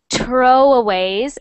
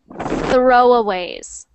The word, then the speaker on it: throwaways: got the th sound it is not tro aways it's throwaways throwaways throwaways there that's that's much better you don't want you don't ever want it to sound like to like tro tro it must always be throwaways throw aways and try